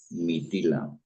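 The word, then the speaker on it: Mithila: padre Fue llamado mitila mitila está bien pronunciado maestro krishna sí es m i t h i a L A mitila en el barata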